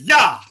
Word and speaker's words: Yah: Consonants don't have sounds. It's just Yah.